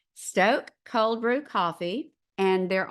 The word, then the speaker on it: Stok: have tried them all this is STO and it's St okay and there's the long vowel symbol over the O which tells you it's pronounced Stoke Stoke cold brew coffee and